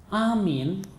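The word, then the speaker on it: آمين: perhatikan bacaan amin Amin ya cara membacanya adalah A itu dua ketuk min itu bisa sampai 6 ketuk Amin begitu ya ada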